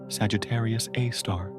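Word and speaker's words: Sagittarius A*: Sagittarius Edo, pronounced Sagittarius Aar.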